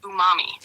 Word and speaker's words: umami: I think it's pronounced umami. you're right. The 5th taste is umami, which is a sweet. Ooh, no, you umami. Umami. Umami. Hi, Bobby. All right, that's like Umami. umami. Like Jumanji.